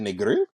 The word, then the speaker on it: Negril: I would go to is it Negril? Negril? Negril? Negril, you're saying I it would right. go to Negril because it's like less touristy in my opinion.